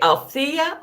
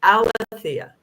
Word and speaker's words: Alethea: So my understanding is it was actually pronounced Alethea.